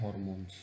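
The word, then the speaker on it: hormones: Topic का नाम है हॉर्मोन्स। ठीक है, हॉर्मोन्स, हार्मोन्स, जो भी आप अपने हिसाब से इसको प्रोनाउंस कर सकते हैं। मैं यहाँ पे हार्मोन्स बोलूँगा, हॉर्मोन्स भी बोल सकते हैं।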